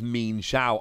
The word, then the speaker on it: Mienshao: so much fun and i have checked the pronunciation it definitely is mean shao i love mean xiao